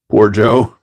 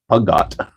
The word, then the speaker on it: Peugeot: Poor Joe. Poor Joe. No R. See, everyone else uses an R. All the UK boys use an R. Puggot.